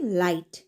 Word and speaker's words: light: लगा हुआ वर्ड्स में another word is LIGHT लाइट तो जब मैंने लाइट बोला तो लाइट में